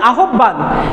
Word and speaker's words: আহ্বান: আসলে এরকম হয় না দেখো এই যে হয়ে ব এটার আগে যদি স্বরে অ বা স্বরে আ থাকে তাহলে এটা হয় ও ভ এরকম হয় ও এবং ভ এরকম ভাবে উচ্চারণটা আছে তাহলে এটার উচ্চারণটা কিরকম হবে আউ আউ ও আর ভ আহ্বান এটার উচ্চারণটা অ্যাকচুয়ালি হবে আহ্বান এটা আহ্বান না আহ্বান